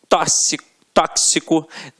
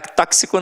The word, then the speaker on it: tóxico: Exemplos aqui, ó: gramática, tóxico, né, cara? Tóxico não, ó, tóxico, é isso mesmo, né? Quase que sai um tóxico, olha que feio que ia ser.